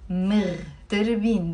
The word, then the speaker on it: مغتربين: مغتربين. There is a غين. مغتربين.